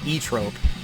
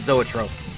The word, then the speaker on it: zoetrope: of people saying that the correct pronunciation years ago was e-trope but i just looked it up and it said zoetrope i don't know i